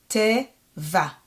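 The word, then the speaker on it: טבע: Te, va. The ayin is silent. It doesn't have a vowel at the end, so we're not going to hear it. We're not going to pronounce it.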